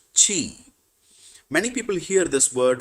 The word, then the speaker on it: Qi: The third invisible helper is called Qi, pronounced Chi.